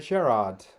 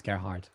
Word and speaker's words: Gerhard: So moving on, we have Gerard. Did I pronounce that right? Second part, yes. The first part, it's Gerhard. Gerhard. It's a German name.